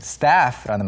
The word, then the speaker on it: staff: 그래서 방금 스텝 이야기했지만 실제로 오늘 이야기하는 것은 staff라는 말이고요. 발음은요? Staff. staff. Staff. A 발음이니까 입을 조금 더 크게 열어주시면 좋겠는데 staff는 직원이나 스태프를 말합니다.